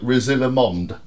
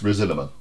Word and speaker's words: Risalamande: I'll be talking your sound how do we pronounce this it looks like rosilla Monde right but it's not no it's resilament resiliman yeah because I because I looked up